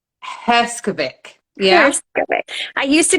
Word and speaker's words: Herskovic: your help in pronouncing your name, your surname, Sure. So it's Herskovic. Herskovic.